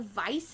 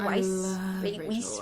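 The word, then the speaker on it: Weisz: Um Rachel Rachel Vice, is that her name? Rachel Weiss.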